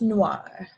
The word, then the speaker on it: noir: noir go ahead and try that again it's noir the next color is red and the french